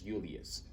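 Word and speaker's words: Iulius: But at the same time, J's were I's, right? So this would actually be pronounced as Julius.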